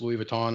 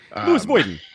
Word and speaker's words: Louis Vuitton: and uh no no it took me a long time to realize it was pronounced Louis Vuitton I called it Louis Vuitton Lewis Boyden that's how that's how